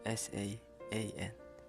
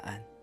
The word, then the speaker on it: saan: also use sun but it's s a a n sun Saan? Just get the sa from the think of an like a then mix there. Saan? You can say it right.